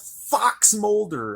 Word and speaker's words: FXMLDR: guys track number two it's called Fox Mulder apparently something from the x-files I don't know but the way it's spelled you would never guess it it's FX M LDR